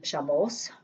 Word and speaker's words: Shabbos: In Ashkenaz tradition, the Tav is pronounced as an S, as in Shabbos.